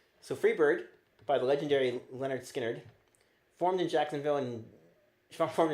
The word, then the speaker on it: Lynyrd Skynyrd: confusion was pronounced was called rather was called pronounced Leonard Skinnard.